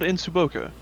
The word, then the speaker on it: Ensuboca: Yeah, it's called Insuboka. It's spelled Ensuboca, but they have like taco trucks all over the place.